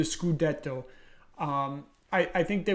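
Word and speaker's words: scudetto: Titan win the skudeto I should say uh the proper Italian pronunciation the skudeto um I I think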